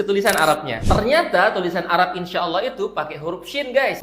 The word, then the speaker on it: Insyaallah: wa in insyaallahuuhtadun suara Nun sukunnya kita samarin karena di sini ada hukum bacaan ikhfa Hakiki dan syinnya kita panjangin empat atau lima harakat karena di sini ada